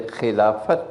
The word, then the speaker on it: Khilafat: the Khilafat movement because this is not the Arabic word Khilafah this is the old falafels so to pronounce the T so they called it the Khilafat movement meaning when the